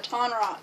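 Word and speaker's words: Tonraq: her eye and and t t Rock right yeah ton rock that was his name I got his name wrong in the last episode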